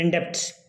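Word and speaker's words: indebted: आई एम इंडेटेड टू, तो इंडेप्ट के साथ में क्या होगा, टू का होगा, इसमें बी साइलेंट का, थोड़ा ध्यान रखना, ओके।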